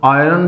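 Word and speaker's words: iron: बात है इसमें नाम जो आर होता है उसे साइलेंट होता है इसको बोल देते हैं कुछ भी बोलिए तो आयरन जो वर्ड है लोहा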